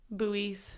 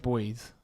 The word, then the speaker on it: buoys: You said there was yellow buoys. Buoys. I always I've always said boys. It's probably how the British pronounce it.